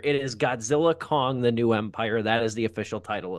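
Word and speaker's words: Godzilla x Kong: The New Empire: The X is silent. I was saying it is Godzilla and Kong, the New Empire. It is Godzilla, Kong, the New Empire.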